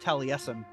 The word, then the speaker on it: Taliesin: in like the book of talisum but it's pronounced Taliesin still no book of Talus and sad face Nate and yeah this is the the hillside Hillside homeschool theater at Allison Spring Green Wisconsin we'll say talison yep the Frank Lloyd writes uh home and